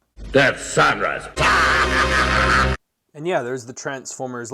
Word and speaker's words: Deathsaurus: the haslab death sarus or excuse me sorry it's pronounced death sanus death sanus and yeah there's the